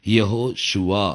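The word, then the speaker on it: יהושע: அதே மாதிரி ஏசப்பா பேர், அந்த ரட்சகருடைய பேருக்கு முன்னாடி அது யெகோன்னு தான் வரணும், யெகோ ஷுவா அப்படிங்கிறது. இதுதான் சரியான உச்சரிப்பாக இருக்கும்.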